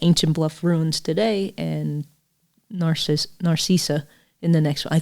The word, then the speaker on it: Narcissa: I would say just Narcissa. It's spelled like Narcissa.